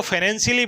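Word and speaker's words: Pfannenstiel: पफंस क कफ है इसको फाइनेंशियल बोलते हैं प को साइलेंट रखते हैं इसको यूज करते हैं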